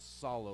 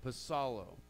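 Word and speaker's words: ψάλλω: the Greek word pasado the P is actually pronounced in the Greek language it's not solo like we would say psalm but pasado Vassallo and let me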